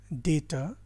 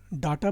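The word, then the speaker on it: data: Posts, डेटा, articles, none of the above. देखिए इसको भी लोग गलत प्रोनाउंस करते हैं, अक्सर डाटा बोलते हैं, जबकि करेक्ट प्रोनाउंसिएशन होता है डेटा, राइट।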